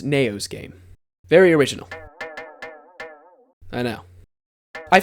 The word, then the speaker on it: NAOHSGAME: It's pronounced No's game.